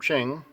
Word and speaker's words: Chin: In high school, I had a friend named Chin. Actually, we pronounce his name Ching, Ching.